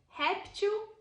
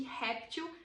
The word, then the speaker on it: réptil: trocar eo por eles por exemplo réptil répteis veja que réptil é uma palavra que é paroxítona ou seja a penúltima sílaba é a sílaba tônica outra maneira de formar